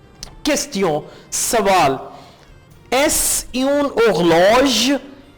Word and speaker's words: est-ce: एस यून horloge, EST-CE को आपने इकट्ठा प्रोनाउंस करना है एस।